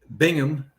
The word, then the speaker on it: Birmingham: the game with the bingham they got they spelled birmingham just like slick pronounced it it's like broom b-h-a-m skip all the rest of